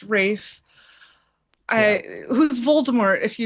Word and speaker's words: Ralph: Rafe. I know. It's spelled Ralph. It's said pronounced Rafe.